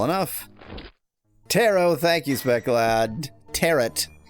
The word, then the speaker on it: tarot: Tarot. Rhymes with carrot.